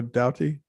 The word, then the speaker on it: Doughty: Joshua Doughty. Is that how you pronounce his last name?